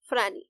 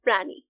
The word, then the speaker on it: প্রাণী: বইটি থেকে চতুর্থ গল্প ফ্রান ফ্রানি কাকে বলে জলিল স্যার ব্ল্যাকবোর্ডের সামনে দাঁড়িয়ে দ্বিতীয়বার প্রশ্নটা উচ্চারণ করে ক্লাসের দিকে তাকালেন টিটু মনে মনে বলল উচ্চারণটা হচ্ছে প্রাণী প্রাণী না কিন্তু মুখে কোন শব্দ